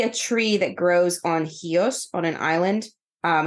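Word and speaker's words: Chios: resin from specifically a tree that grows on hios on an island um it's spelled like chos c h iio in English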